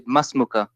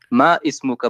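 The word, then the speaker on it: ما اسمك: when you say masmuka, then you say it like not ma ismuka, but you say masmuka or masmuki. What's your name? Masmuka. You don't say it ma ismuka, but you write it. Yeah, but different. This is just because it's harder to pronounce if you say ismuka. So they say masmuka.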